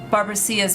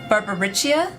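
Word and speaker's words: Barbariccia: You who now speak as though you were Barbara's minion. Oh yeah, somebody said the pronunciation it's pronounced reach. Oh, Barbaricia. Barbaricia.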